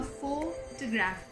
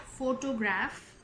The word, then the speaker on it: photograph: Yes, it's called a photograph, not photograph. The O is silent here.